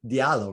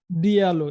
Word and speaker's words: Diallo: His name is spelled, like M-A-M-A, like mama, do, D-O-U, and his last name is D-I-A-L-L-O. How do I pronounce your last name? This Diallo, right? Diallo, yeah.